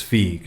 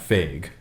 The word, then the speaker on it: Feig: Twitter who said that it's feek not fake as I was saying in last episode mm-hmm he's a writer